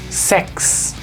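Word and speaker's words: sechs: Pero en el caso de la combinación CH seguida por una S, se lee como si fuera una X. Entonces esta palabra se lee sex. Para algunas personas puede sonar chistoso, pero bueno, es así, sex.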